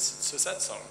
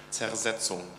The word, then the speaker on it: Zersetzung: But the thing I have experienced in the last several years is Sosetsong. Right? Are you all familiar with this concept at all? Am I saying it wrong? Zersetzung? Zersetzung? Disintegration, right? Zersetzung.